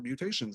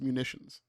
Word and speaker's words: Munitions: So that's pronounced munitions. What did I say? Mutations. Oh, well, that definitely changes the meaning of the word, then, doesn't it? We changed the word by spelling it. We changed the word by pronouncing it correctly. So question, the next page